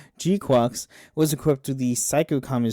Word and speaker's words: GQuuuuuuX: So, the G-Quack or G-Quocks I almost said G-Quacks. G-Quocks was equipped with the